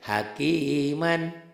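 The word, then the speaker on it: حكيما: Ini kan hakiman tuh. Hakiman dibacanya jika dihentikan seakan-akan ini dibuang satu tuh. Ingat ya, yang belah sini ini cara tulisannya, yang ini cara bacanya. Hakiman jika dihentikan jadi hakima, cuman jadi panjang.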